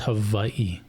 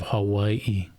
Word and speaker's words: Hawaii: of Hawaiians that actually pronounced it as a W, as a soft W? Right. Is that the correct term, soft W? Sure. Not a V.